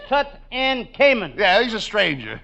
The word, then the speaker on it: Tutankhamun: It says Tutankhamun.